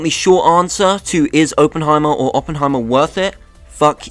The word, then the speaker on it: Oppenheimer: I got Oppenheimer, or Oppenheimer, depending on how you say it.